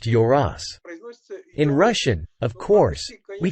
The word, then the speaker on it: Yoros: In Turkish, it is pronounced Yoros. In Russian, of course, we can't say it like that because we always stress the letter yo, while in their language, it is unstressed.